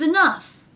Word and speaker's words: enough: It's enough. So the aw vowel changes to the uh vowel, but somehow that F sound stays in there.